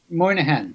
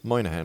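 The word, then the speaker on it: Moynihan: Uh Alan Moahan Moahan.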